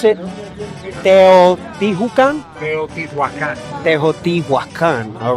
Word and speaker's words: Teotihuacan: Now, how do we pronounce it? Teotihuacan? Teotihuacan.